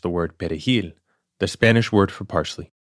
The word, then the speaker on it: perejil: they pronounced the word perejil, the Spanish word for parsley. Because Haitians, in Creole, we use a guttural R, and Latinos roll their R.